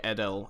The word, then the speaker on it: Adel: is Adel Adel Adel it's pronounced more like Adele in whatever so Adel okay so